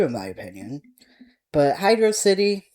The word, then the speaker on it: Hydrocity: And yes, it's Hydrocity. I do not pronounce it as the other word.